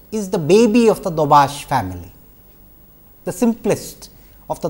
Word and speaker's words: Daubechies: Incidentally as I mentioned dbash or you know sometimes it is pronounced as dbashiz has been a mathematician scientist engineer whatever you want to call her of repute.